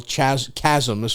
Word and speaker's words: chasm: but but it's still that's a big mental Chasm as far as I'm concerned I just learned that Chasm is pronounced chasma not Chasm I did not know yet a